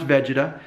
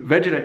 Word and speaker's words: Vegeta: But I guess it's pronounced Vegeta, and most of you are of the right age group to know all about Dragon Ball Z, and to know that the Vegeta hairline, if I'm pronouncing that right, Vegeta, is